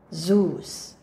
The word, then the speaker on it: Zeus: next word you know this well go Zeus zus next go hermies hermies let's read the next